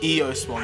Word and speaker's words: Eosmon: Eosmon, that's how you say it.